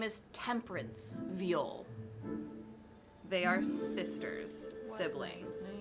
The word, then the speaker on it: Viol: Viol is spelled V-I-O-L, and it is pronounced viol. Like the instrument. Yes, exactly. Ooh. Second ruler. They, she are their pronouns. Name is Temperance Viol.